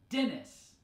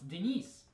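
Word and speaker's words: Денис: very similar right because in English we have the a man's name Dennis with the stress and a different part of the name right Dennis on the first syllable but in Russian that's on the second syllable it's Denise and the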